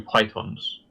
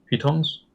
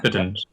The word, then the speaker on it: pitons: Using the Cyberdyne Systems Control Unit, I shall create 2 pythons. Pitons? Oh, I never pronounce it. Yeah. Pitons.